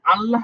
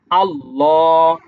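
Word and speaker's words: الله: করব এই যে আপনারা আল্লাহ শব্দটা দেখতে পাচ্ছেন। এই আল্লাহ শব্দটা দুইভাবে পড়তে হয়। দুইভাবে কিভাবে? উচ্চারণটা দুইদিকে দুইভাবে হবে।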